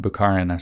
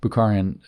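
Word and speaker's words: Bukharin: uh Booker and um buaran sorry I said it wrong bukharan and then other people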